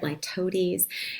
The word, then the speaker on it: litotes: This is, that's how you say it, litotes.